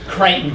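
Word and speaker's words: Crittenden: Senator James uh James Crichton did yes I don't know why that is pronounced frightened in but it is okay um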